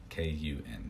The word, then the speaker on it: kun: And then the Japanese, the original pronunciations, are called kun readings, K-U-N, so kun.